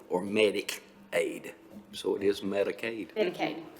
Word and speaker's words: Medicaid: Medicare is, Well, it just seems to me it's spelled differently. I just want to make sure I'm saying it properly, not Medicaid or Medicaid.